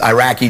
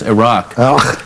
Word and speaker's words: Iraq: protect them so and we never even pronounce the country right and we called it Iraq it's not Iraq it's Iraq Iraq sounds like that's not the point